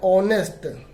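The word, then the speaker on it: honest: ऑनेस्ट, नेस्ट, ऑनेस्ट, तो ओ की sound और एस साइलेंट है यहाँ पर, तो यहाँ पे एन लगाएंगे।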